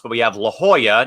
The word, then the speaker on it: La Jolla: And also aerobics also mispronounced, but we have La Jolla, not La Jolla. It's La Jolla, folks.